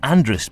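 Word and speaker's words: Andreas: In the north, Andrea is still being pronounced Andrus by those who want to sound Manx, even if they aren't, but not by anyone else.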